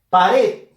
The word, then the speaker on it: pared: Pared. Fuerza de voz en la sílaba red. Última sílaba de la palabra. Termina en D. No se tilda.